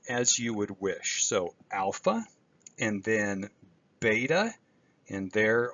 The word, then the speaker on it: alpha: So we begin here with alpha, and here is the lowercase letter, and then the uppercase letter as in father.